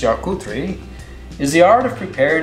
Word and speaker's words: charcuterie: in the french tradition charcuterie pronounced chakutri is the art of